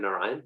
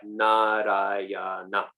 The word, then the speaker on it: Narayana: appeared when he said Narayan? This is just fun facts now. I like to talk about Bhagavatam. I don't get too much. Yeah. Srikanta Sena Prabhu is right. Narayana. One for each syllable.